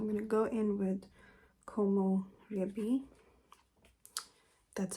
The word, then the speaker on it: Komorebi: So I'm going to go in with Komorebi.